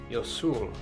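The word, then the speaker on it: 유술: martial arts they called yosul which is the Korean pronunciation of jiu jitsu at first this was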